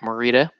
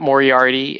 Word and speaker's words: Morita: Ralph Macchio and Pat Morita we like to say we like to in my house we like to mispronounce the name so we call it we say Pat Moriarty and Ralph's muchacho you know that movies